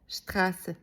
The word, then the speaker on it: Straße: Think about the word Straße. It has that letter in it. Imagine two letters S merging into one smooth line, and that's scharfes S. It's just like sharp S sound, like in kiss. Straße.